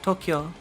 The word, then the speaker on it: Tokyo: Oh, so Tokyo, like, you know, is spelled T-O-K-Y-O, but like that spelling would normally indicate a short vowel, so like Tokyo, but it's actually Tokyo. It's To-U-Kyo-U, not Tokyo.